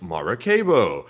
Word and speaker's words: Maracaibo: They said Lake Maracaibo is pronounced Lake Maracaibo.